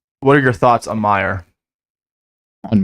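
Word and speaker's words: Maher: do you think what are your thoughts on Meyer on Meyer yeah m-a-h-e-r I think I'm pronouncing that correctly m-a-h-e-r yeah is that a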